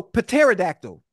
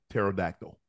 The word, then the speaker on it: pterodactyl: the goddamn word so pterodactyl the p is silent pterodactyl me with the p